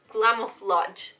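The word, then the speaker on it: Glamoflauge: whole time you guys it's glamoflage like you know camouflage but instead of camouflage is glam right I don't know it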